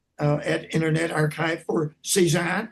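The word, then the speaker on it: CESAAHN: I pronounce it C ZAHN.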